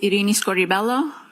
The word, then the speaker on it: Irini Scordi-Bello: My name is Arini Scorelloo. That's spelled I R I N I S C O R D I B E L L O.